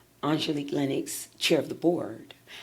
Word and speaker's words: Angelique: And we have to make sure that we pronounce it correctly. Angelique. Angelique.